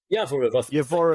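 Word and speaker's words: Yavoriv: The term Scream Factory is used to describe and I might get this wrong, is it Yavorov? Is that how you pronounce it? Yavorov is how you pronounce it, base.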